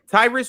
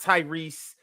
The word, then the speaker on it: Tyrus: saying my name wrong it's not Tyrese it's Tyrus like Chris but Ty Tyrus Tyrus you call you be